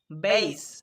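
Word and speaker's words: base: শেষে পাচ্ছি ই, তাই এখানে বি এ এর উচ্চারণ করতে হবে বেই আর এস ই স, বেইস, মানে ভিত্তি বা ঘাঁটি।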